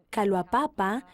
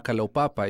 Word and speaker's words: Kalaupapa: Y sé algo de que había dos ramas, una en Kaloapapa y la otra en... Kawahu. Sí, gracias, no quería Bueno. pronunciarla mal. Esta es la rama Kalaupapa y yo serví como obispo del barrio Ho'oleo.